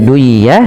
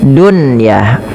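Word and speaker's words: دُنْيَا: Maka bukan lagi duyah tapi bacanya dunyaah.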